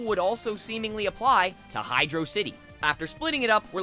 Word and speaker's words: Hydrocity: that makes perfect sense Hydro city is literally a water level that takes place in an old abandoned civilization looking at the name of the level in that light it begs the question what the heck is a hydrosity none of the possible answers make any sense and another knock against the hydrosity pronunciation is I wasn't able to find any specific grammar rules that validate oh making the a sound in that kind of word but I